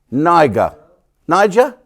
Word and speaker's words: Niger: is n-i-g-g-e-r what so how do you pronounce that then Niger Niger so all the nigers